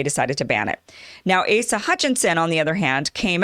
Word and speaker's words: Asa Hutchinson: how do you say ace's name it was asa hutchinson now what happened yesterday was that the legislature